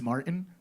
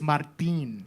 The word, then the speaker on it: Martín: say my name is Martin we got a problem if you know already that not you see the little accent it's Martin I like but you